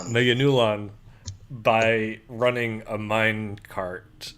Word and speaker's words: Meganulon: But yes, racist dubbing aside, our hero Shigeru finally kills a Manegulon. I said it wrong. Meganulon by running a mine cart into it and crushing it.